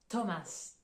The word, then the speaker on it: Thomas: le cas par exemple pour le prénom Thomas Thomas ou là en anglais on va prononcer avec le son t entre parenthèses vous